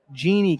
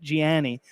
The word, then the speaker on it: Jeannie: We want to thank and welcome to the community Jeannie Kane, not Gianni.